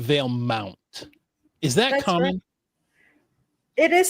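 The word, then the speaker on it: Valemount: I'm I'm hearing Veil Mont instead of Veil Mount.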